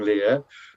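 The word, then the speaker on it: Leir: an earlier play called King Lear, but spelt L-E-I-R, what we often call King Lear the Unpronounceable, because you can't say it in any way that distinguishes it from Shakespeare's.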